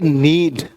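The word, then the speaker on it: knead: गूंथने के लिए आज से बोलेंगे नीड। नीड बोलेंगे, है ना? के साइलेंट यहां पर, नीड, नीडिंग करना।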